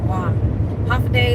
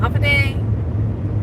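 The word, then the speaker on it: håfa adai: language we speak in w h day that's how you say hello Andi is how you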